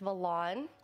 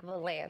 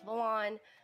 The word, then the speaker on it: Valannn: um let's see uh my twitch name because i know people say it wrong sometimes it's valon i know it's people think it's like vlan so it's full on my name is also